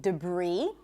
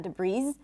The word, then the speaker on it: debris: The S is silent in debris, not debris, debris, and also in the word bourgeois.